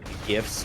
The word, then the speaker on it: GIF: will always call them gifs and not gifs because just that that one I can agree that's GIF a soft G yes yield on chiplets